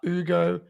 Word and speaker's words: Hugo: Like, it's taken me so long to figure out how to say Ugo Gonzalez's name without you pronouncing the Hugo in the huh.